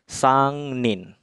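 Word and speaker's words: 三人: 3 ada 3 strip maka kunci orangnya akan dibaca Nin jadinya sang Nin kanji 3 sama kanji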